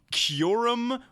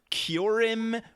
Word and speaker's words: Kyurem: the movie is that every character in this movie pronounces this pokemons named it's either kyurem or cure him or kill him or ki Arum also were like 10